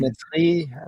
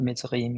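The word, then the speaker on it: מצרים: Like how do you say the word Amitzrim. Mitzrayim? Yeah, right. Mitzrayim. Yeah, I mean Mitzrim. Mitzrayim, you're right.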